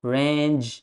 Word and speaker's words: range: range of areas range. It's not re, it's range long a sound.